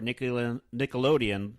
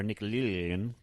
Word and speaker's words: Nickelodeon: So then in 1994, Nickelodeon, or Nickelodeon, whichever one, people in Ohio pronounce it Nickelodeon, just so... In case you're wondering why I was pronouncing it that way, launched The Big Help,